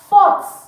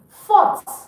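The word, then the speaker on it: forte: Fought. Fought. Now you can pronounce the T, but don't pronounce the E. Fought.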